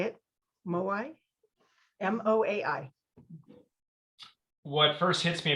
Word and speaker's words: Moai: This is the silence of the Moai. I think that's how you say it. Moai, M-O-A-I.